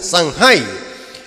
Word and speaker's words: Samhain: Es un festival celta llamado Festival de Samhain, así se pronuncia, Samhain, que según los celtas ocurría el 31 de